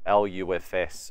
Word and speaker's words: LUFS: relevantly in today's ages what Lu FS or laughs are some people pronounce it should my track be